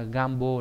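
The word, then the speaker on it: 願望: Thế nguyện đọc là gan. Nguyện sẽ là gambo, là nguyện vọng.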